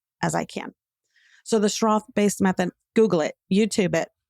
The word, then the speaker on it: Schroth: We started learning more about the Schroth-based method.